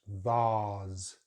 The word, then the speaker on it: vase: Next word, we have the long vowel sound R in British English, vase, vase. And of course, it's a Z sound at the end. Americans use a very different vowel sound, so they say vase, vase, and they use an